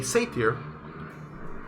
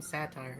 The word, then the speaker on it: satyr: front of yourselves a satyr. Satyr? Yeah, Yeah, satyr. satyr. I mean, like you used to call him satire. It's fine. either Yeah. way. Now I know how to pronounce it.